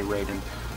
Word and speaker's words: Raiden: The Raiden games are Raiden or Raiden, however you want to pronounce it. I say Raiden.